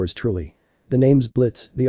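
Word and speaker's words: Blitzø: now though why did the name Blitz with a silent o sound familiar to him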